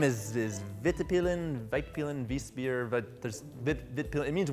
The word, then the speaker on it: Vitpilen: And then the model name is Vitpilen, Vitpilen.